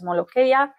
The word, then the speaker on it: molokhia: Molokhia is the Arabic word. You can pronounce it as molokhia.